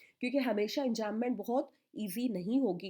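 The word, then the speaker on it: enjambment: इसके बाद है एंजैममेंट, दैट इज़ रन ऑनलाइन। और मीनिंग क्या होता है एंजैममेंट में? बी साइलेंट है बच्चों।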